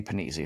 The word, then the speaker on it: Panizzi: And then my character's name is, I play a guy named Eddie Panizzi. His last name is spelled penis with an I at the end, Panizzi.